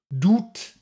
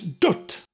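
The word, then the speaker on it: dwt: it's spelled d WT and I've heard people pronounce it all kinds of ways including don't doot doubt but it's ducked it means little person like the right girl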